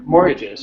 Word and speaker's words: mortgages: more more good yeah the t you don't pronounce the t more more yeah mortgages more mortgages arrears arrears